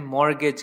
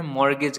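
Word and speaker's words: mortgage: में हम कहते हैं मॉर्गेज करना ठीक इसमें यह छुट्टी शायद यह साइलेंट होता है उसका हम इंग्लिश में सिर्फ पड़ते हैं मॉर्गेज करना किसी को गिरवी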